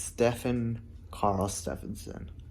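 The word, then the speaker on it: Stefán Karl Stefánsson: stephon carl steffensen okay so it's stefan carl stephenson i just want to say it correctly just in case if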